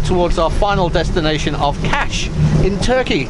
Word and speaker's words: Kaş: Oh yeah, this is just another hop towards our final destination of Kaş in Turkey. It's spelled K-A-S, but pronounced Kaş.